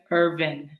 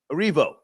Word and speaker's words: Erivo: I want to say her name right, Cynthia Irvin. Arivo.